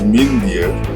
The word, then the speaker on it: Mindear: for his brother Mindy minded they have proper pronunciation is mean dear but historians far away in New Delhi Etc